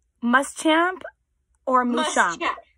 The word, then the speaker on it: Muschamp: Muschamp or Muschamp? Muschamp. Correct. Okay. Muschamp or what was the second one? Muschamp. Either one. Muschamp. Okay. All right. Okay. Which is the correct pronunciation? It's Muschamp, but please know that I am not picky